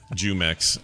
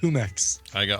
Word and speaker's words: Jumex: Jumex. Right. I think somebody corrected us. That's pronounced Humex.